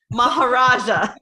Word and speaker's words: Maharaja: Maharaja.